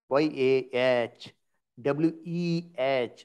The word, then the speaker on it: Yahweh: is there so after y they added a y a h w e h so it become Yahweh yahwah so as a pronunciation change in various languages you see the